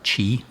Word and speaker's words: Qi: was specifically looking for i think it's pronounced uh chi but it's actually spelled qi i'm not sure how to pronounce it but i specifically